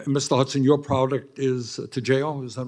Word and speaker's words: Toujeo: Hudson, your product is Toujeo?